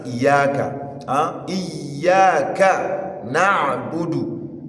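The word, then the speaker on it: نَعْبُدُ: Uh iyaka na'budu. Ayn, not hamza.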